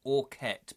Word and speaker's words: Aukett: It's pronounced Aukett, by the way.